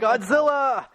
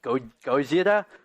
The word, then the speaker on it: Gojira: It's not Godzilla! Gojira! Gojira! That's lame. It's Gojira. I know it's correctly pronounced Gojira.